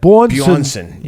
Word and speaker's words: Bjornsson: Am I pronouncing it right? Yeah. I think that Bjornsson showed the edge there.